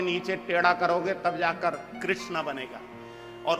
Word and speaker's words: कृष्ण: जाकर कृष्णा बनेगा और उच्चारण करने में जरा उच्चारण करो तो कृष्ण बोलो कृष्ण जब तक मुंह को टेढ़ा नहीं करोगे जीभ को घुमाओ ग नहीं तब तक कृष्ण का नाम निकलेगा ही बोलो कृष्ण कृष्णा अब